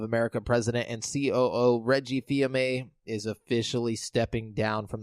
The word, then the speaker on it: Fils-Aimé: VMA. I always say that wrong. Fils-Aimé. VMA? Yeah, Fils-Aimé. I just said it wrong again.